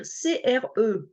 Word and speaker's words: CRE: dire CRE mais ainsi on prononce les lettres alors qu'un acronyme c'est à peu près la même chose mais ça va être ça se prononce comme un mot enedis donc on va dire CRE et c'est un sigle